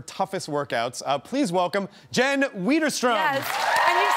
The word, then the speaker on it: Widerstrom: Please welcome Jen Widerstrom. Yes. And you said my name right. How many times can I mispronounce? You're like, all the time, you're like, it's Widerstrom.